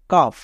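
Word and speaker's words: cough: এর জন্য কি হবে ফো তাহলে কি দাঁড়ালো কাফ নেক্সট একই রকম ভাবে টফ এখানেও দেখো ওয়ার্ডটির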